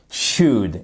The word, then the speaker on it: should: utiliser should et attention attention à la prononciation should c'est toujours sans prononcer le l c'est pas he should c'est he should should qu'est-ce que vous faites ici vous mettez un ou court should ok would c'est